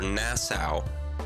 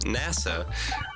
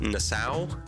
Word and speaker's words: Nassau: then second day was our Nassau Nassau or however you pronounce it I know you do not pronounce it NASA like our uh Cruise